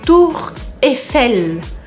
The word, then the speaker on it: Tour Eiffel: Tour Eiffel. Tour Eiffel. Até o nome dela já te faz sorrir. Tour Eiffel. Você tem que dar um sorrisinho mesmo e não pronunciar esse I.